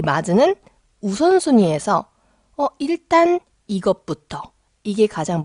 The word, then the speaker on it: まず: 이런 상황에서 마즈를 쓰시면 돼요. 근데 여러분 주의할 점이 이 마즈가 한국 사람한테 은근히 어려운 발음이에요. 이 즈가 여러분 해보시면 알겠지만 잘못하면 주가 돼요.